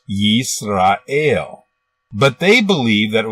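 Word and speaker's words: ישראל: as an example in Hebrew this word is pronounced yeast ale but they believe that it was originally pronounced Yasha rawa while there is no evidence to support this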